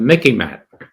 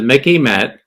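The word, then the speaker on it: MICIMATT: Now it's become the Mickey Mat. Think of Mickey Mouse. It sort of rhymes with Mickey Mouse, but it's the Mickey Mat.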